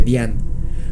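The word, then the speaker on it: Dzyan: eso el libro de Dhyan, cuyo significado es meditación mística. Y es que la pronunciación Dhyan, escrito D-Z-Y-A-N, de la palabra es particular de la lengua tibetana o mongola.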